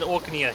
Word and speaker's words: Orknia: He said Orknia. He didn't say the R.